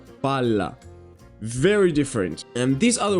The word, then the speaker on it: palla: You see these two very similar words, but one is pronounced pala, the other one is pronounced palla.